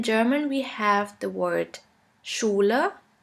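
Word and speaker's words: Schule: at a few examples in English you would simply pronounce it like in the word sheep sheep and in German we have the word Shula Shula which means school the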